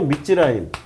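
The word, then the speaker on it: 미츠라임: 원래 성경에서는 그 밑지라임이에요. 밑지라임.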